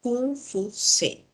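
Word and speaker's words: 孔夫子: hay uno es confucio el verdadero nombre confuso era kufuse pero los europeos por fonética no no lo podían pronunciar y le pusieron confusión que es como lo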